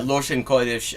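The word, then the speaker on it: לשון קודש: Yeah, Loshen Kodesh. That is Yiddish pronunciation of Hebrew words. Loshen, Lashon, language. Kodesh, Kodesh, sacred.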